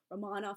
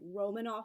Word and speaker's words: Romanov: like totally pretentious but the correct Russian pronunciation of Russia's Imperial family is Romanov I know many people say Romanoff but that's not actually correct I do have a